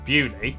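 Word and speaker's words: Beaulieu: Starting in Biaulio, Bewley, head over to Rampisham, Ransom, then down to Mouse.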